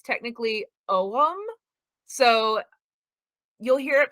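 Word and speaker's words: Ogham: is where we get you'll hear it americanized pronounced ogum a lot i know it's technically owem so you'll hear it pronounced both ways but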